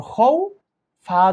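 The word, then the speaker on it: خوف: যেমন নাকি এটা খ ওয়াও জবর খৌ, ফা দুই জেরফিন, খৌফিন। আপনি যখন উচ্চারণ করবেন এটা কিভাবে পড়বেন? খৌফ, এরকম টেনে পড়তে হবে।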